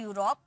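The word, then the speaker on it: Europe: यू में पढ़ते हैं जैसे कि यूरोप है ना ई यू को हम क्या पढ़े यू में पढ़े यूरोप यूलॉजी ठीक है इस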